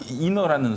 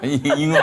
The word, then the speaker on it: 인어: 아니 인어라는 소문. 발음을 정확하게 좀 인어. 잉어? 잉어 아니고.